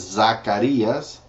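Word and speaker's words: Zacarías: Zephaniah is sofonias Hagi is hayel Zachariah is Zacharias Malachi is malachias and that's the books of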